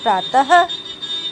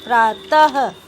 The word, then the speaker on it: प्रातः: इसे बोलने में हा ध्वनि निकलती है। इसका चिन्ह ये देखिए डबल डॉट की तरह होता है। ठीक है। इसका प्रयोग व्यंजन के बाद किया जाता है, जैसे प्रातः।